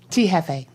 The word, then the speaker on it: T.Jefe: T Hefe.